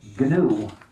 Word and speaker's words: GNU: to let you know the name G is pronounced G uh not we never spell it out that's too slow uh it's much better to just say G and the other thing